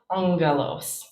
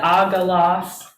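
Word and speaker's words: ἄγγελος: um so this um when gamma is doubled the first one becomes nasal and it makes an sound so we get angelos that's what happens um if you said agaloss you know people would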